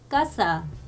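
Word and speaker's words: casa: 여기서 보시면 이 세가 아, 오, 우 앞에 오면은요 까로 발음이 나요. 그래서 까, 꼬, 꾸 이렇게. 그래서 예제를 보시면 까싸.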